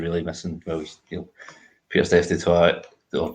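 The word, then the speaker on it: du Toit: The only big names you're really missing, well, Pierre Steph Dutoit or Dutoit, I'm not exactly sure how you might pronounce it. Dutoit like a tiger. Toit like tiger.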